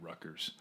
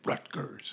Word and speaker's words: Rutgers: I was working at Rutgers. And the way that I said it, he was like, I could tell you're from back east, you don't pronounce the T.